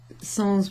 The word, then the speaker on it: sans: example in English, but sans will be pronounced with an S at the end in English as a borrowed word from French, meaning without something.